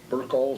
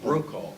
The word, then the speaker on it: Brokaw: And Tom Burkall, is that how you pronounce his name? Brokaw.